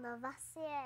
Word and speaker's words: Lavoisier: But I think I need to pronounce it like this. It's French. Antoine Lavoisier.